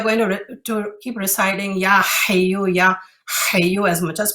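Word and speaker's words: حي: And we that are from India and Pakistan background, we tend not to say the ha when we say, like when we pronounce that word, like for example, hayu, we tend to not say the ha part.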